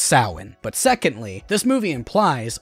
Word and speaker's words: Samhain: Speaking of convoluted continuity, Michael writes in blood on a school chalkboard, "Samhain." Okay, first off, it's pronounced Samhain.